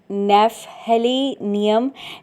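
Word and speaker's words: Gnaphalium: अ नेफहलीनियम। नेफेलिनियम homeopathy की medicine है। Start यह जी से होती है। लेकिन जी जो है वह इसका साइलेंट है। इसको ऐसे ही प्रोनाउंस किया जाता है।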